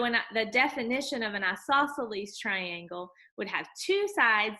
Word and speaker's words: isosceles: look at is isosceles we say it like that isosceles and then isosceles triangle